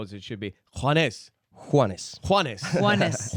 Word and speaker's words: Juanes: Juanes. Juanes. Juanes. Juanes. Juanes. Like one and then S.